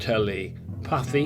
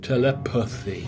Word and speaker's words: telepathy: red there because unfortunately the way we pronounce a lot of our words in English hides the true meaning of a word with the neutral vowel. We say it quickly, telepathy, that there is pronounced as an and it often hides the true meaning. So sometimes it's good to pronounce it in the wrong way, telepathy.